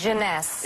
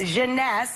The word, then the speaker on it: Jeunesse: How do you pronounce this? Jeunesse. Jeunesse.